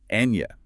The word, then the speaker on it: año: Exactly like Indian canyon or onion. Middle of the tongue presses against the roof of your mouth, air through the nose. Enya, meaning year, is the classic example.